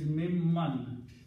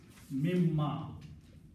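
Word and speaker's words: مِمَّا: When noon and mim come together, then this noon is pronounced as mim.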